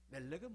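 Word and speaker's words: מֶלֶךְ: 요거는 에라고 읽고 위에 찍힌 거는 오라고 읽어요. 그래서 요거는 몰렉, 요거는 멜렉 이렇게 되는 겁니다.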